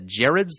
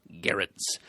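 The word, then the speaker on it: Gerads: Hard G. Yes. And like Bear, I think you said. Right. Yes. I always kind of assumed it was Gerrards, like Gerald without the L, but apparently it's sort of like that, but also without the soft G. Right. So, Gerrards.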